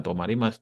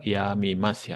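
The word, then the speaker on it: 止みます: Namun cara membacanya adalah—bukan " tomarimasu," melainkan "yamimasu."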